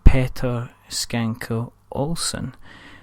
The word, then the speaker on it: Petter Schanke Olsen: games and the gentleman behind it all is Peter skanker Olsen so hello Peter hello you managed to say